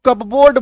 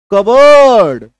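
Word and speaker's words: cupboard: ए आर डी लोग क्या बोलते हैं इसको कपबोर्ड बोलते हैं लेकिन इसका सही उच्चारण क्या है कबर्ड क्या उसका उच्चारण है सही कबर्ड इसको कप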